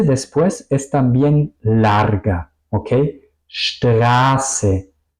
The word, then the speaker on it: Straße: Straße, grüßen. Es decir, vocal y la S suenan largas.